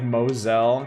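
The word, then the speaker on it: Mousehole: know you know sorry why is the town of mous hole pronounced like Mosel explain this to me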